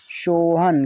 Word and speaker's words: सोहन: ना, तो ये हुआ सोहान। तो सोहान क्या उच्चारण सही है? कभी आपने किसी का नाम सोहान सुना है? नहीं, ये गलत है। क्या है? गलत। ठीक हो जाएगा सोहन।